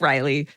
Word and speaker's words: Riley: Toodles, Riley, pronounced like Riley, she, her.